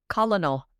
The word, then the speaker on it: colonel: The word I write on the paper does not say colonel. It doesn't. There's no R. No. It's an L. Colonel.